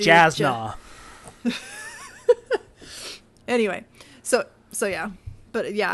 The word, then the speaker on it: Jasna: Oh yeah, for several months, like on the trip to finally get to Yasna. Right. I'm totally saying her name wrong now. Yasna. Yasna. The J throws me. I want to do Jasna.